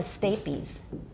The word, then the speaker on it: stapes: Because if you see A plus a silent E at the end, you know it's pronounced like the name of the letter A.